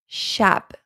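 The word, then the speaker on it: شب: This is a, a, like a in apple. So you should pronounce it shab, shab.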